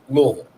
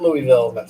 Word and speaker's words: Louisville: louisville which is funny how they say it's louisville not louisville it's louisville anyway uh yeah i love tom